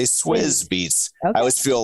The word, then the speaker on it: Swizz Beatz: I'm like, should we say Swiss Beatz? I think you're supposed to say Swizz Beatz.